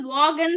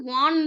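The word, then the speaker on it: Vaughan: இதை வந்து வாகன் சொல்லக்கூடாது, வான் தான் ப்ரொனவுன்ஸ் பண்ணணும். So Henry வான் and then Thomas ட்ரெஹன்.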